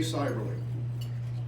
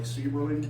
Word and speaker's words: Seiberling: Seiberling. And if you look him up, it's going to look like Seiberling, but it's actually pronounced Seiberling.